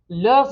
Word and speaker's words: leurs: But let's say they have multiple children, leurs enfants. And there is a Z sound there because enfant begins with a vowel.